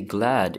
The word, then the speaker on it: glad: Now to say glad in Swedish, it's spelt the exact same way, but you pronounce it in a Swedish way.